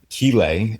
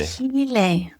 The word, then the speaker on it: Chille: So the CH is like a K. It's actually Italian. So I have Italian origins. My father from Rome. So it's Chille, like chemistry. Chille.